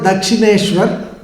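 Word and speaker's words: Dakshineswar: course you cannot pronounce but i'm going to pronounce it for you it's called dakshineshwar that is the place it's on the banks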